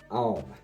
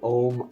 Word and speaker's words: Aum: But anyways, the third eye chakra is Aum, and that is spelled A-U-M. Okay, and a lot of people say Om. Aum is the original.